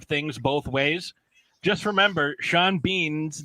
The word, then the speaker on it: Sean Bean: both ways just remember sean bean's name is not pronounced sean bonne or seen bean just remember that the